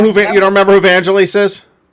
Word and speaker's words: Vangelis: you don't know who you don't remember who vangel is Vangelis I don't know how the Greeks pronounce his fraking name I don't speak Greek